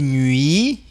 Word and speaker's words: nuit: Tu verras tous les jours des nuits sans sommeil. Olha, aqui nós temos o biquinho. Des nuits. Esse U em francês nós falamos U. U. Você faz o I e aí faz o biquinho.